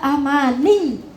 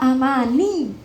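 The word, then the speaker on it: أَمَانِيَّ: Nih, padahal ya-nya itu tasydid. Kalau tasydid ditekan, Mbak. Agak ditekan. Illa amani. Gitu nggih? Ditekan ya, Mbak ya. Illa amani. Jangan amani.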